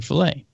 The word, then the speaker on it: Philae: I was most interested in Philae. Now, Philae is spelled Philae, okay? Go figure. But the Philae lander, not like fillet of fish, but Philae lander, was a lander that